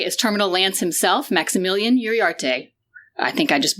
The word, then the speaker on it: Uriarte: It's technically Uriarte, which is Spanish, Mexican name.